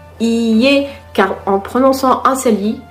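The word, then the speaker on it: いいえ: Attention à la prononciation, il faut bien prononcer les deux i. Iie, car en prononçant un seul i et, donc iie, cela veut dire maison.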